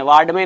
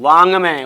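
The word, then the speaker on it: वाङ्मय: वाड में नहीं, वांग में।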